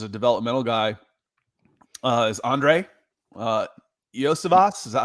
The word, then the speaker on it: Iosivas: And then, one of the guys to watch as a developmental guy is Andre Iosivas. Is that how you pronounce his last name?